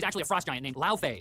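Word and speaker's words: Laufey: Oh, and she's actually a frost giant named La Fay. And that's how you say it, not Lee, like a pop star, which is frankly messed up.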